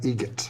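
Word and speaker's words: Eget: How do you say the name? Adam Egert. Egert. Spelled different like the bird.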